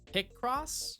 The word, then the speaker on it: Picross: way the the inflection pick cross pick cross yeah I put an emphasis on the wrong syllable the cross the cross yeah it's like calling